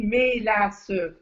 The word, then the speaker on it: mélasse: Même des fois, je ne sais pas pourquoi on prononçait de la menace, comme avec un N. La En menace. tout cas, la menace, c'est ça. Mais au fond, ça s'écrit mélasse.